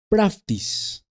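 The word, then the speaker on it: πραΰτης: verdad fruto del espíritu santo en griego se pronuncia practice que nuevamente puede ser traducida como humildad como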